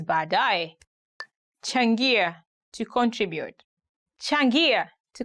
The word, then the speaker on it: baadaye: Today we are going to look at 10 hardest words to pronounce in Swahili. Baadaye, later. Baadaye, later.